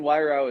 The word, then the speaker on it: Weirauch: Weirauch is my name, as you said, rhymes with eyebrow.